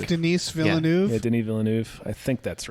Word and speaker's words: Villeneuve: yeah phil i think phil i think villeneuve is correct denise villeneuve yeah i think that's